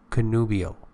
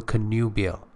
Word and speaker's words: connubial: is related to marriage connubial or connubial both pronunciations exist demur British demure American